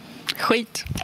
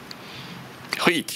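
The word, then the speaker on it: skit: Huit. Huit. Alors vous savez comment prononcer les SK, hein, suivi d'une voyelle différente de A, O, et U. C'est I, huit.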